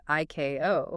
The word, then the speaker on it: ICAO: Just like the regulatory body ICAO is always pronounced IKO.